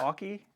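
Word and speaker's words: Anker: here loose i have a multi-port aki charger is how you say it aki anyways it's usb-c power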